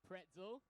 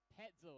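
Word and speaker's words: Petzl: is petel all right it's not pretzel it's petel I apologize if I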